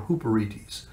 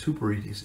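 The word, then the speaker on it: ὑπηρέτης: And that word minister is the Greek word hyperetes or huperetes. It's spelled hyperetes. It's pronounced huperetes.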